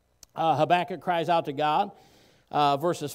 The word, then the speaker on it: Habakkuk: And then chapter 3, Habakkuk's beautiful worship. I've also heard the book of Habakkuk pronounced Habakkuk, okay? Potato, potato. Pronounce it however you want to pronounce it.